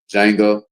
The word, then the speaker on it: Django: You know, anybody see that movie called Django, but the D is silent? Django with Samuel Jackson and Jamie Foxx.